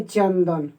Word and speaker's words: चंदन: और त वर्ग का पांचवा अक्षर क्या होता है? न होता है। तो यहाँ पे हम उच्चारण करेंगे चंदन, यानी चंदन, ठीक है।